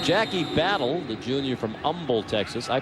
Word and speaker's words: Humble: Jackie Battle, the junior from Umble, Texas. I pronounced that right.